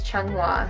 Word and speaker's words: Chunghua: how to say it but it is Chung hua so katie chang hua what keeps you motivated